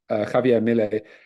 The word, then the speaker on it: Javier Milei: self-confessed anarcho-capitalist, who during his campaign trail, it's Javier Milei, isn't it? I pronounce it. Is that pronunciation right? Yeah. Javier Milei, who was sort of saying on the campaign